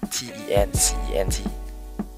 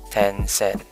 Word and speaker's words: Tencent: I hope I pronounce it right. T-E-N-C-E-N-T. Tencent.